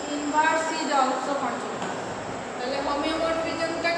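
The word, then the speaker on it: homeomorphism: তবে এগুলো আরেকটা ডেফিনেশন আছে তোমার হোমোমরফিজম বা টপোলজিক্যাল ম্যাপিং, আর 7-8 নাম্বার হোমোমরফিজম। homomorphism বা topological mapping A homo HOMEO এটা বানানটা হলো HOMEO হোমিও তাহলে হোমিও হবে হোমিওমরফিজম one BJ 1 on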